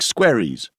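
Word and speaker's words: Squerryes: as newer names like Squaries, rhymes with cherries, alongside veterans like Biddendon.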